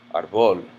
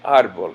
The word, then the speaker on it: árbol: the rules previously mentioned, because it ends in an L, the natural stress of this word would be on the second syllable, árbol. But people don't say that. People say árbol, and to denote this, Spanish includes a written accent mark over it, so that you know it's el árbol.